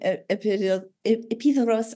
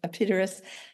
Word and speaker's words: Epidaurus: When I was in Epidaurus or Epidaurus, however you want to pronounce it, they put on the Greek plays there.